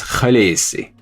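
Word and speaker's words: Khaleesi: He says the correct pronunciation of khesi is the native Draki pronunciation is kalesi.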